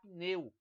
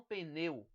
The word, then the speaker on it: pneu: haver por exemplo aqui nós devemos pronunciar pneu e não pneu o pneu e a